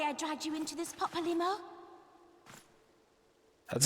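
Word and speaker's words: Papalymo: you're solely mistaken i dragged you into this papalimo that's how you say his name just hardly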